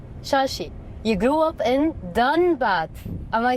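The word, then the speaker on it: Dhanbad: So Shashi, you grew up in Dunbad.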